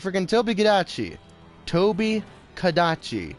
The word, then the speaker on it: Tobi Kadachi: Toby Kadachi, not Gadachi.